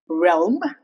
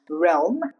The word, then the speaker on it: realm: The exceptions are as here realm. Here the letter L is very pronounced. Realm.